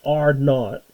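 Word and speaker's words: R₀: And the basic reproductive number, it's pronounced R naught.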